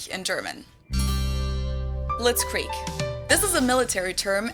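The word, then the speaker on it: Blitzkrieg: actually had been used way before that we pronounce it Blitz Creek in German and it literally translates to lightning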